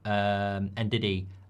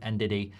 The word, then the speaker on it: Ndidi: There was something I saw on MUFC MPB this morning from about Ndidi and talks with Manchester United. How do you pronounce Ndidi? Because everyone's going, you pronounce it like P Diddy.